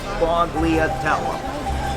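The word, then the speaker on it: sfogliatella: and so you know how to spell it it's spelled s f o t l i a t e l l a that's fog Leah tele it's a great pastry enabled the breakup it's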